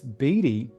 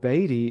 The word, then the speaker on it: Beatty: it in England, and Beatty is how we pronounce. We always push back against the English because we rebelled years back, and so we always rebel. So it's actually any way you pronounce it is technically correct.